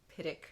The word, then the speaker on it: Pittock: So, speaking of Pittock Mansion, and I did look it up several places, including OPB, pronounce it Pittock. So that's what I'm going with.